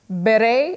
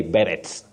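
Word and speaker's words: beret: pronounced by the way this word is from French and the t is silent you can say ber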